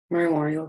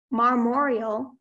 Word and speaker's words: marmoreal: Marmoreal, can I have all the information? Marmoreal is an adjective.